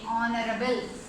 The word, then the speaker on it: honorable: Honorable. How we have to pronounce?